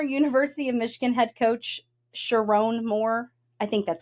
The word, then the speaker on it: Sherrone: of the former University of Michigan head coach Sherrone Moore? I think that's how you say it. It's s h e r r o n e. Sherrone. Sherrone. Sherrone. Sharon?